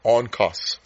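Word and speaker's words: ὄγκος: The Greek word for weight is spelled O G K O S, but it's pronounced O N K O S on cus.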